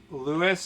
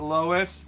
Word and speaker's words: Lois: Lewis and not Lois. Lewis. Lewis. You know, he will never stop pronouncing it.